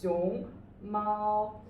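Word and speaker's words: 熊猫: So it's xiong mao. Awesome. Now we have practiced the pinyin and these syllables.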